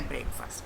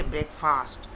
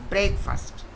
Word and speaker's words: breakfast: is important don't say break fast many people would say break fast no it's breakfast breakfast the accent should be on break this is where your